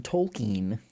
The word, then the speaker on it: Tolkien: it was Elvish Elvis this is from Tolkien he says that I know I know you're